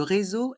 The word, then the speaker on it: réseau: e r le Réau dans le mot réseau il y a le son ze car la lettre S est entre deux voyelles le E